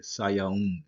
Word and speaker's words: Sayaun: You got a wa sound. Sayaun, Sayaun. All right. So you could spell that different ways. You could put a U there, uh, or either you could leave the 00 right there. So it could be either way. The pronunciation is not going to change. And this is a na right there. Sayaun. It's an N sound.